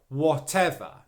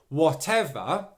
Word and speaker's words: whatever: whatever whatever whatever okay that second syllable is the stressed one it should be louder slightly longer and produced with more force whatever okay the third thing